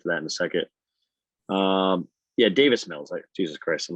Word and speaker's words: Davis Mills: But they have David Wills. How do you say his name? David Mills. Yeah. Davis Mills.